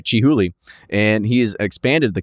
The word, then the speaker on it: Chihuly: All right, Chihuly.